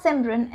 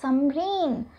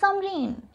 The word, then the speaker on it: Samrin: It's not Simran, it's Samreen. S-A-M-R-I-N. Hamesha Simran kyun likhte ho? It's Samreen.